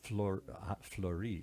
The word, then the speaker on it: Fleuri: Fleury. How do you spell that? F-L-E-U-R-I. Oh, fleurie, like a flower in French.